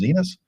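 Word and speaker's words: Xinis: He was deported and then Judge Paula, I believe it's pronounced Zenus, um, said that he was deported unlawful.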